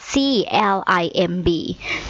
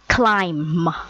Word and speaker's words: climb: ว่า climb สะกด ว่า c l i m b clim แต่ ตัว B ไม่ ออก เสียง นะ คะ เพราะ ฉะนั้น ให้ ออก เสียง ว่า climb climb นะ คะ Don't